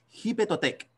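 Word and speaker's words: Xipe Totec: Acuérdense que México es con X, ellos pronuncian la X no como nosotros, sino que como una J. Jipetotec, señor tolteca de la primavera.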